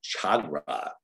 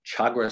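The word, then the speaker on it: Tchagra: is called brown crowned chagra chagra spelled with a t tch we get some of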